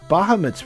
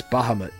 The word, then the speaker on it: Bahamut: Sometimes I wonder if it's Bahamut or Bahamut, but so I mean I don't know. It's very weird. There's pronunciations are all over the place. But it's Bahamut, I think, is how it's generally pronounced. That's the more common pronunciation.